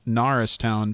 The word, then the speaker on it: Norristown: He's calling in from Norristown, Pennsylvania.